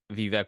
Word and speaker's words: Vivek: It's Vivek like cake.